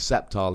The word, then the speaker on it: Sceptile: Somebody else pointed out that it's Sceptile EX, or, you know, the C is silent.